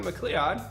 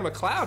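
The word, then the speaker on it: MacLeod: and made either by Kevin mcleon sorry Kevin McLoud is how you pronounce that I've learned and Jason Shaw and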